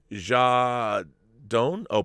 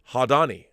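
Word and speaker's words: Jadaone: girl directed by antoinette jar doan oh pronounced hadani ah hadani fan girl directed by antoinette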